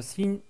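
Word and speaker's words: س: En termes de prononciation, la lettre sin est bien évidemment équivalente à la lettre S du français. Donc, elle est facile à prononcer pour vous.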